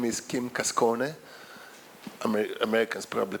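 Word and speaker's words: Cascone: His name is Kim Kasone. Americans probably pronounce it Kasone, but it's actually Kasone because it's an Italian surname.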